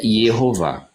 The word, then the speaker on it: Jeová: e com base neles a pronúncia que nós podemos usar claramente em hebraico é jeová aí vocês podem falar